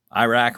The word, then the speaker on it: Iraq: Or is it Iraq? Iraq rhymes with attack, so we'll go with that. 9-month wait for this one to hit shelves.